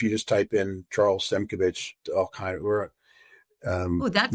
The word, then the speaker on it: Simkovich: If you just type in Charles Simkovich, that's not easy to spell. Why don't we spell that for our viewers? Simkov as in Victor, ICH. Oh, that is easy. It's exactly how it sounds.